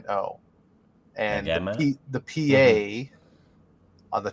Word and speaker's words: Nagano: Because Nagano is a real city, and I just looked up the pronunciation, and apparently that is right. So It is Nagano. Okay. I don't know. Well, I've been saying it wrong.